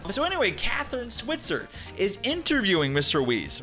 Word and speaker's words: Switzer: contemporarily broken down barriers it's it's schweitzer right it's it's s-w-i-t-z-e-r schweitzer thank you so much it's switzer my apologies that's on